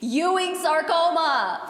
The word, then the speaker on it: Ewing's sarcoma: It's Ewing's sarcoma. Every single time she tries to pronounce it, she calls it Ewing. Ewing. Ewing sarcoma Ewing. Ewing. It's Ewing. Ewing's sarcoma.